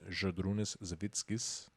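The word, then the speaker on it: Žydrūnas Savickas: His name's Zydrunas Savickas. Is how you actually pronounce it.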